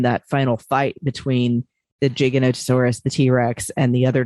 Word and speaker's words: Giganotosaurus: driving him crazy was they kept calling it giganotosaurus um and it's actually pronounced in the paleontological community giganotosaurus so that was a little annoying but for